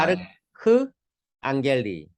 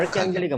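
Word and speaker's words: archangeli: 그 다음에 CH는 크 발음이거든요. 그래서 아, 아르크 앙겔리. 아르칸 아르크앙겔리가 뭐예요?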